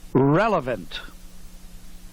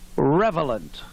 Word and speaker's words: relevant: the crowd that discovered the word relevant except for years they've been mispronouncing it revelant just ask them and